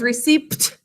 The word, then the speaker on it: receipt: it system receipt yes there's a silent pup in this word can you all think to spell it as receipt don't spit on me